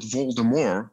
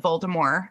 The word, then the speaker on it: Voldemort: But even Harry Potter and the Cursed Child, they pronounce it Voldemort as well. So I think that it's the French pronunciation of the where they drop the T.